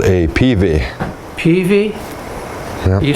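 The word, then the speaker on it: peavey: This is called a PV.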